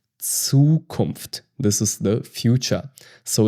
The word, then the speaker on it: Zukunft: It sounds like TS. Zukunft. Zukunft.